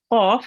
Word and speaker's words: qaf: Okay, so when you round your mouth with the letter, then it's a thick letter, and you have to read this qaf. You pronounce it from your throat, from the middle of your throat as well, which you did correctly.